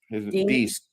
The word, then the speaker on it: Deace: Steve Deace, I guess how you pronounce his last name. Deace. Deace. D-A-C-E. Became infected. E is long.